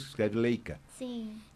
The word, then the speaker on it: Leica: Tanto que, por exemplo, ela era tão conhecida porque em alemão se pronuncia Leica. E hoje ninguém mais fala Leica. A gente pronuncia como está escrito em português, que escreve Leica.